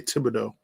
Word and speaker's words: Thibodeau: But if the Knicks do fire Thibodeau, well, he pronounced it differently. It's French, so I say Thibodeau.